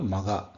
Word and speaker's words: Magha: the entire thing so it is generally pronounce maga maga is what is say Maga is like Mega so it's like large so it is super sized